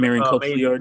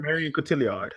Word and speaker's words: Marion Cotillard: Marion Cotillard. Marion Cotillard.